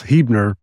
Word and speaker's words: Huebner: Did I pronounce all that correctly, Brian? Pretty close, Huebner, but very close, very close.